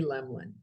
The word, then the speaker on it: Lemlin: impact on my life i now spell my name l-e-m-l-i-n it's on the bottom of the deck my cards are on the way i am eliminating so that people say my name right and what it has